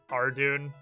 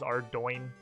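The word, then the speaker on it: Ardougne: If I had to actually guess, I would have guessed Ardoon. That's what I assumed the actual pronunciation was until HC told me it was Ardoin. I still have no idea how the fuck you get doin out of that combination of letters.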